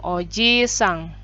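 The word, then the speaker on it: おじいさん: ya itu bahasa Jepangnya Oji sang double I pengucapannya juga panjang Oji sang kemudian neneknya obah sang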